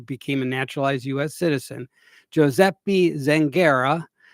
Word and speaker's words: Giuseppe: citizen, Giuseppe Zangara. Giuseppe. Giuseppe. It's Giuseppe? That's how you Giuseppe.